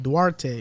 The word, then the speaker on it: Duarte: kelden johnson whatever dwarves he's dominican bro you got to say with a spanish kind of slang to it duarte why do i have